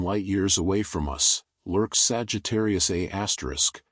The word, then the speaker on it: Sagittarius A*: At the very heart of our galaxy, approximately 26,000 light-years away from us, lurks Sagittarius A*, pronounced A-star, a supermassive black hole containing about 4 million